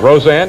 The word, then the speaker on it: Roseanne: the inaugural you'll kill them now did i pronounce that right roseanne yes the inaugural girl and mr roseanne and